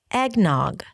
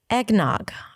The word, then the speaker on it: eggnog: And on Christmas, you also drink eggnog. Eggnog. I'm not a fan of eggnog, but I'm a fan of pronouncing it. Egg, just like an egg, and then nog.